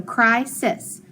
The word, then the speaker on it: crisis: So this first syllable says I, cry. And then over here it says is, sis. So crisis, crisis, which means an emergency.